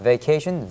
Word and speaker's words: vacation: 할정 during my vacation 이렇게 할 수가 있겠습니다 vacation V 발음하게 역시 음이기 때문에에서 발음 하셔야 됩니다 성음 발음로 아실 한쪽을 가볍게 십니다 my vacation my vacation was here My vation 대학 다닐 때 여기